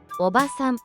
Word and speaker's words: おばさん: 오바산, 아줌마. 이 단어는 오바산이라고 짧게 발음합니다. 일반적인 친척 아주머니나 이웃 아주머니 등 비교적 젊거나 중년의 여성을 지칭할 때 쓰이는 표현입니다. 이때는 한 박자로 짧게 발음됩니다.